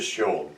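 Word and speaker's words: Sion: They pronounce it Sean.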